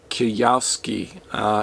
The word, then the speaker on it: Kiyosaki: Rich Dad, Poor Dad, and I can never pronounce this guy's name. It's Robert Kiyosaki.